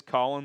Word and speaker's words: Colin: It is Colin, that's how he pronounces it.